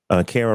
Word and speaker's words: Kara: Kara rhymes with Sarah. Uh, does body count matter, Kara?